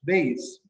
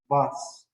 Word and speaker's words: bass: And also the same is a fish, but the fish is not pronounced bass. It's pronounced bus.